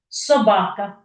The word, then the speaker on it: собака: Ну звісно три так А на який склад який склад є наголошеня собака Я ж не кажу собака або собака собаками Ви чуєте що я виділяю які склад другий Так саме другий склад є наголошени Давайте розглянемо теж саме